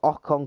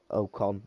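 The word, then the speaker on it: Ocon: and now we've got okon coming out uh with the Americans obviously mispronouncing his name oh con I think he said so now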